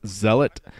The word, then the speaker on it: Zealot: I think it's technically pronounced Zealot, like the actual word Zealot, that is an actual word, means like religious crazy person.